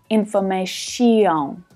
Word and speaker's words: information: So just like in the last example, the final syllable reduces down to become a schwa. Shun, shun. Now, my Brazilian students, I'm looking at you. This is not to be pronounced shion, shion. Information. It's not ear, it's just one syllable and it's always unstressed. So it uses the schwa. Shun, shun, shun. It's short and it's low in pitch.